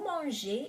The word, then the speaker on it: mangez: to eat, or vous mangez, you people or you mister, eat, right? So EZ or ER at the end of the word is pronounced E.